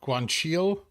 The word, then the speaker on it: guanciale: But a true Italian knows guanciale is pronounced guanciale.